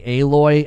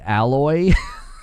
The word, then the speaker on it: Aloy: Anyway, I watched a I watched a Force Gaming video this morning and he kept calling Aloy Alloy.